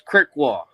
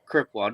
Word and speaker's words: Krzykwa: It's Krzykwa. Krzykwa. Don't worry. You're not the only one that butchered it.